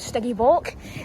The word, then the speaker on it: Stygimoloch: You know, let's move on to Stygimoloch.